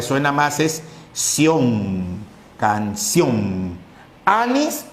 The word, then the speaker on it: anís: ¿Anís o anís? Tomó anís. No, tomó anís. Por lo tanto, la sílaba tiene mayor sonido. El acento está en nis.